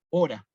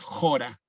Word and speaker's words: hora: Entonces, lo que nosotros decimos es acá que tendría que ir una H, digamos, nosotros la palabra hora, fíjense, la decimos a la H muda, hora, no decimos jora, ¿no?